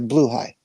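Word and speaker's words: blåhaj: little circle thing, as blaha, as what we pronounce as blaha. And then when I asked it to speak it on their little push your little microphone or speaker button, it's a blue high.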